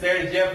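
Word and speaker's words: Saytzeff: तो इसीलिए हम यूज करते हैं जेडेफ, जिसे हम लोग प्रोनाउंसिएट करते हैं सेट-जेफ रूल से।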